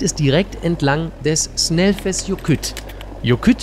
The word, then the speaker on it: Jökull: Jökull bedeutet übrigens Gletscher und wird mit 2 L am Ende geschrieben, die aber wie ein T und ein stummes H ausgesprochen werden.